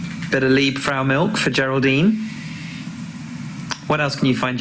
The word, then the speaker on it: Geraldine: Do you know, actually, Geraldine, I've noticed something. That G letter is at the start of your name. But it's a soft G that makes the sound in your name, J, J, J.